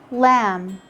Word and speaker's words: lamb: in climb limb thumb lamb lamb in all these words you just ignore the b and you and you stop at the sound of the m but notice the b